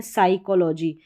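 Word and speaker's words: psychology: साइकोलॉजी यहां पर यहां पर जो है पी वो साइलेंट है इसलिए स साउंड प्रोनाउंस हो रहा है क्योंकि एस को हम पढ़ रहे हैं।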